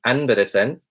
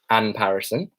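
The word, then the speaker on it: Anbarasan: So in the British pronunciation, my name would be pronounced Anparison. In the kind of ethnic pronunciation, it would be Anberesen.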